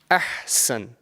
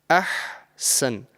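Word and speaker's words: أحسن: into like 3 sections, try and pronounce this ha from the middle of your throat. And it's often mispronounced and confused with the other ha, which is a lighter ha. Yeah? So if over here I have this one word, ahsan, yeah? Ahsan. And it's very, very common that someone can, mispronounce this and say ahsan.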